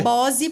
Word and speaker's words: Bossi: Se fala Bose, Se fala Bose por conta da pronúncia italiana.